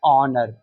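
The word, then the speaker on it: honour: हम बात करें तो यहां पर यह जो एच है एच की साउंड क्या होती है भाई? एच की ध्वनि होती है हां। लेकिन इसको हम प्रोनाउंस क्या कर रहे हैं? इसको प्रोनाउंस कर रहे हैं ऑनर।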